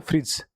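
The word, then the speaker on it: fridge: फिर ब्रिज डी फिर फ्रिज फिर डी साइलेंट। ठीक है? अपन फ्रिज बोलते हैं इसको। ये होता है फ्रिज।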